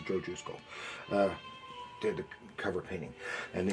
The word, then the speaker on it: Jusko: Joe Jusko, or is his name supposed to be pronounced Husko? I don't know. It's pronounced Joe Jusko.